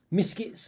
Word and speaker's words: Miskits: So Miskits as well, or Misfits if you want to mispronounce it like I did.